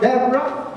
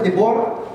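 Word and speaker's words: Deborah: other is Debra Okay pronounce it right Debra because before i sa debora Debra and judges for is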